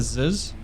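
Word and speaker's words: ZiS: So they've got a Ziz. I think it's a Ziz. That's how you say it.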